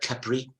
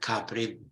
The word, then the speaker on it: Capri: They go to Capri, which they even pronounce differently. They call it Capri, not Capri.